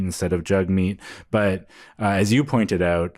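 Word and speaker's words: Jagmeet: spelled j a g m e so people pronounce it J Meat instead of jug meat but as you pointed out this has been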